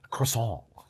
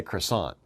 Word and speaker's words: croissant: Croissant. Okay, it's French. Americans say croissant, but the French would say croissant, okay? Because it's a different language, and they don't pronounce all of their letters.